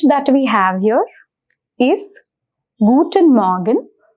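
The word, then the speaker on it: guten Morgen: is really subtle so the pronunciation is guten Morgan I'll repeat it once more guten Morgan the next wish or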